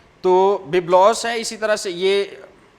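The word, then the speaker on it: βίβλος: یونانی زبان کے لفظ بیبلوس یا ببلوس بھی کچھ لوگ اسے پروناؤنس کرتے ہیں، اس کا تلفظ جو ہے ادا کرتے ہیں ببلوس، لیکن کم لوگ ہیں جو کہتے ہیں، زیادہ تر جو یہ لفظ بولا جاتا ہے یا سنا جاتا ہے وہ بیبلوس ہے۔ تو بیبلوس ہے، اسی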